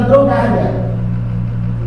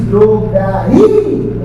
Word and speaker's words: drogaria: Então você vai ter que pôr força nesse gato, vai virar drogária. Existe drogária? Existe drogaria. Opa! Olha esse I como é forte agora.